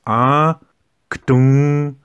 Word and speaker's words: aktunja: When you look at the word aktunja, the tendency would be to say aktunja if you say it in parts, in components. But it's not that way. It's aktunja. And when you learn to say it like that, it becomes easier and you're speaking the way Lakota people speak this word.